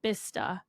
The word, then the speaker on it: Bicester: and they pronounce it bista sense B it looks like well it looks like Bicester yeah but they say but they just cut out entire syllables of the word yeah but anyways it's